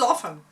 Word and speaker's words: often: Oh, it was often. There was no doubt about it. You don't pronounce the T. No. Like knife, you don't pronounce the K.